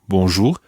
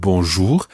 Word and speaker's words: bonjour: means good and the part means day so bonjour literally means good day not to what we